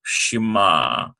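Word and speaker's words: שמע: mem with a potaka and we have the silent letter ie that simply carries the sound of the previous letter Shema hear listen or obey in this case it's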